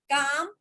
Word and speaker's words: calm: Just a minute, काम, CALM, काम, शांत। काम ही करते, L साइलेंट होता है।